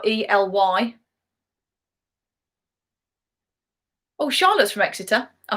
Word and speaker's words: Ely: you half a point oh i've pronounced eli wrong it's it's ely ely see i don't even know